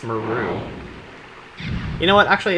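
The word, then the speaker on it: Meru: Which I heard someone, like, during a Let's Play pronounce her name as that, Madu. And I'm like, I hate you. It's Maru.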